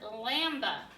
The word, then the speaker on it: lamb: underline is saying that there's a a silent letter okay this is the word lamb no no what is a baby sheep lamb so so exactly you double underline the B because it is silent okay so in the